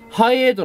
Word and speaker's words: Hi8: うと、まずこれ、ハイエートってこう書くのね。